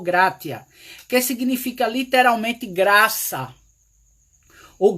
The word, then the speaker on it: gratia: O verbete gratidão vem do latim gratia. Eu acredito que se pronuncia assim, gratia ou gratia, que significa literalmente graça, ou gratus, que traduz como agradável.